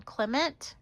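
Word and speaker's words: Klimt: Clement.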